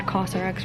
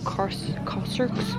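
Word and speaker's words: Kérastase: Also, turns out I've been pronouncing the brand Kerx wrong. It's apparently Corser.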